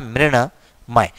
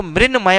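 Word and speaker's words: मृण्मय: अब अगर हम लोग इसका उच्चारण करें तो मृणमय उच्चारण होगा ही नहीं हमसे, क्योंकि न के पहले री स्वर होने की वजह से न हमारा ण में बदलता है और इसका अगला आंसर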